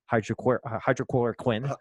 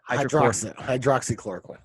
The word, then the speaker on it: hydroxychloroquine: I believe it's in hydrochloroquine. Hydroxychloroquine.